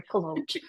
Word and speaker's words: Kolouch: And now your last name, I mispronounced it. Sorry. Collo.